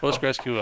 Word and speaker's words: PostgreSQL: PostgreSQL.